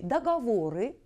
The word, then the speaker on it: договоры: эпическую норму русского языка правильно постановка ударения в этом слове относятся именно к этой буковки о до 3 третий слог является ударным договоры 2 праве второе